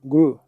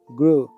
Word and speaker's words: grew: pasado Gru se pronuncia Gru suena una única vocal larga Gru Where are you from